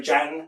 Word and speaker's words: Jan: Okay, if we go from there, we go to, some people say Jan, some people say Jan, and also with his surname, there's various pronunciations.